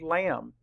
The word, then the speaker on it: lamb: we know is that when MB are together at the end of a word or syllable the B is silent and we see that in the word lamb but when MB are